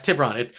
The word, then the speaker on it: Tiburon: I looked at However that you pronounce it. too. Yeah. Yeah, it's Tiburon.